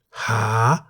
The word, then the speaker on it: หา: The single syllable in the word หา is a live syllable because it ends with a long vowel สระ อา. The initial consonant ห หีบ is a high class consonant, therefore, based on the tone rules for a live syllable, หา is in the rising tone.